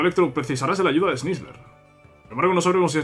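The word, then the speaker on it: Sneasler: Te guiará hasta donde se encuentra Snizzler. Snizzler, ¿no? Es la pronunciación.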